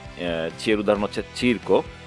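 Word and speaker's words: circo: তৃতীয় বর্ণ হচ্ছে চি, চিয়ের উদাহরণ হচ্ছে চিরকো। চিয়ের উচ্চারণটা একটু খেয়াল করতে হবে, কারণ চিয়ের উচ্চারণটা চ এবং ছ এই দুটি বর্ণের মাঝামাঝি একটি উচ্চারণ।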